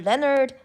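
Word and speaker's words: Leonhard: It's often called Euler's number after Leonard Euler, pronounced Euler.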